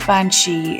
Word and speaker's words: bean sidhe: outside Ireland might not know this the word bansi is spelled b e a n s i d